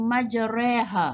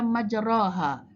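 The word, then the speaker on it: مجراها: boleh membetulkan bacaan kitab contohnya contoh pada kalimat dalam al-qur'an disebut Perkataanmu majreha Wa Oke kalau kita tidak tahu menyebutnya ejaannya kita akan membaca majroha jadi bila kita bertalaqqi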